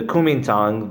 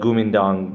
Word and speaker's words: Kuomintang: So what happens is the Kuomintang, the Guomindang by some other pronunciations, rises, and they're the Nationalist Party.